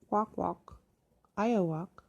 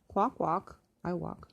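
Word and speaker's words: Kwakwaka'wakw: Chief Dan Kramer of the Nagmas tribe of the Kwakwakwa, Wakwa, pronounced Kwakwak, Iowak. Oh, that's how you pronounce it. Kwakwak, Iowak, had other ideas.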